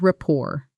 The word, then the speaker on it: rapport: We often say, build rapport. Slow. It took a few minutes, but we built a real rapport pretty quickly. Fast. Same. Try it. Notice rapport is pronounced with a silent T.